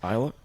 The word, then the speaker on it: Islay: you finish on the island of Isla, I believe it's pronounced. Isla? It's ISLES, whatever it is. Or, AY, and people might yes, pronounce sorry, it like yes. Islay, but it's Yes. actually Isla, and that's where Lagavulin